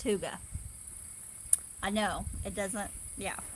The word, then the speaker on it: hygge: tomatoes a little bit hygge is h-y-g-g-e and it's pronounced tuga I know it doesn't